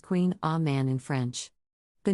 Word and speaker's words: Kouign Amann: a variation on a traditional pronunciation queenamon is pronounced Queen a man in French the name can be a bit